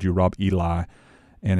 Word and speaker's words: Ely: Today I've got a special guest on the program with us, Rob Ely. Is that pronounced correct, Rob? That is correct. Ely, I got it right this time.